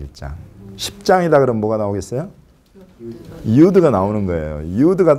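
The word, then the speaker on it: יוד: 이 히브리어 유드는 인쇄체하고 필기체가 똑같이 이렇게 살짝 점만 찍어 놓으면 돼요. 유드. 그래서 영어로 하면 Y 발음. Y 발음이 나는 것이 요 단어예요.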